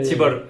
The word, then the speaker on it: Tibor: Tibor, okay.